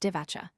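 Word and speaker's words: Divača: To 10 or 28 m equals Divacha equals pronounced Divacha, 1418 FT.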